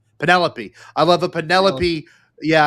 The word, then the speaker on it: Penelope: It's Penelope, but pronounced like cantaloupe. Penelope.